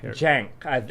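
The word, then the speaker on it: Cenk: again s chank Jank I believe it's a CH it's a it's a Turkish name it it starts with a C but in the Turkish pronunciation C doesn't actually have that same sound the the Turkish pronunciation if you look on uh any like pronunciation guide online uh it sorry it gives a d than these uh symbols that are are obviously not uh English oh okay because it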